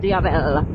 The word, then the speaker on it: Diavel: to the name and I always want to pronounce Diel as the DI the you know anything anything besides what it actually is Diel Diel it helps me when I imagine it's spoken in an Italian voice as oppos to my